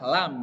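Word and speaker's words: لام: Lam gitu ya. Lam, lam, lam, lam. Jadi diucapkan dari lidah yang bagian atas yang mau menyentuh gigi seri bagian depan.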